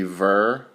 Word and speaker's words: ve: And then there's V, V-E, V laughed. I called, and it would be ver.